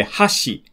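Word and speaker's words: 箸: So for example, if you say hashi, that means chopstick.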